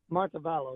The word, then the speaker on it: Montevallo: Let's go to Glenn in, how do you pronounce that, Glenn? Is it Montevallo, Alabama? Montevallo, yes.